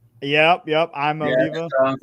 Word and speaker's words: Iamaleava: I did see a bunch of Tennessee fans once he left said his last name was Iamaleava. Yep. I'm Oliva.